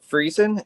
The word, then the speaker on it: Friesen: Stuart is it Friesen? Is that how you pronounce it? Yep.